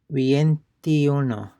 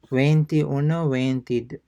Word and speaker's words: veintiuno: Numbers 21 and 30, they start with vein, that is vein, veintiuno, veintiuno, uh, um, veintiuno, yeah, veintiuno, veintidós, veintitrés, veinticuatro, veinticinco, veintiséis, veintisiete, veintiocho, veintinueve, and treinta.